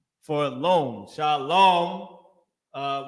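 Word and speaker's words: שלום: Shalom. Uh with my at the end, just a M because the ah at the end is not pronounced heavily.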